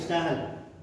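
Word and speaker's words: Stahl: Time sir ये स्टाइल लिखा है, स्टाइल स्पेलिंग में STAHYL क्या पढ़ेंगे? स्टाहल। स्टाहल हिंदी में लिख लो, मिसेल्सन एंड स्टाहल।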